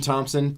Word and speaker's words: Thompsen: Just Thompson. Thompson is spelled Thompsen instead of SON because my family's weird in Danish.